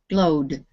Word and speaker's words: glowed: put the edn okay so glow is one syllable glow the fifth column glowed there's only one syllable is it ending with